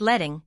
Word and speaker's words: leading: What is leading? Line spacing. Leading pronounced letting is the vertical space between lines of text measured baseline to baseline.